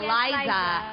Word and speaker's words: Liza: pronunciation ko di ba Liza pero It's like Liza minelli Yes po okay but